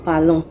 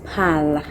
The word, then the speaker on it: parlent: C'est pas ils ou elles parlons, c'est ils ou elles parlent.